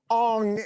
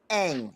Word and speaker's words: Aang: Okay, so how do you say it? It's Aang? Aang, with a long A.